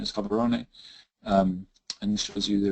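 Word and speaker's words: Gaborone: as it was called then by the British pronounced gabaron but the satuan pronunciation is cabaron um and shows you the original idea was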